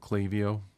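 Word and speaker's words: Klaviyo: like MailChimp um or I'm using one called clavio and it's uh it's spelled with a k k l a k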